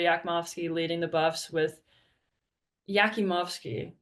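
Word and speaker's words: Jakimovski: leading the Buffs with yakimowski that's that's how you say it um 17 points four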